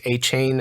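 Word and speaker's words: Achane: They have Devon, I think it's A-Chain is the way you pronounce it, that they drafted this year, and he's played okay in the preseason.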